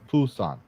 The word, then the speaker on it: Busan: when he attended the Busan. Actually, that's not right. It's not Busan. Busan. It's Busan. Is it? Oh, they say it with a B.